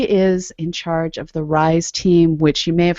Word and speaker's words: RIS4E: in charge of the rise team which you may have heard pronounced as the rise 4E team um but the four is actually silent um so there's a